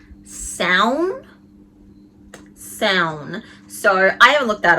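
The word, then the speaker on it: Samhain: They call him Sam Hain, but my wife says that it's actually pronounced Sown.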